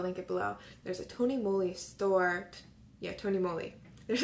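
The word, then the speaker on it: TONYMOLY: and so I'm finally saying it right at Tony moly multicolored pencil my school looks um I don't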